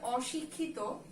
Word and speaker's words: অশিক্ষিত: ঠিক আছে, তাহলে আমরা কি দেখলাম যে শব্দের শুরুতে এই স্বরেওটা যেহেতু নাবোধক অর্থে আছে, তাই এই স্বরের যে উচ্চারণ সেটা অবিকৃতই থাকবে, অনিয়ম, তারপরে অক্ষম, তারপরে হলো অশিক্ষিত। এটার উচ্চারণটা আমাদের কোনোভাবে কি দিয়ে হবে না, ও দিয়ে হবে না। আমরা অনিয়ম বলি না, আমরা অক্ষম বলি না, আমরা অশিক্ষিত বলি না।